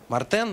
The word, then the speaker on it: мартен: Мартен, он через Е пишется. Хотя звучит как Э.